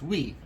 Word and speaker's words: oui: It's like when, in French, for example, the word for yes, oui, it's spelled O-U-I, even though to our English ears we would imagine that being spelled with a W.